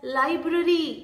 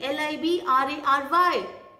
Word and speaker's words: library: word is children library people call it as library l i b r a r y so what is the correct way listen carefully it is library library what is it library it's not library it's library all right the next